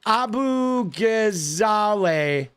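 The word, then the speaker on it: Abu Ghazaleh: You did spell it wrong, but you're pretty close, right? It's uh Z A L E H. Abu Gazale. And and I think it's uh Ge, right? It's Abu Abu Gazale.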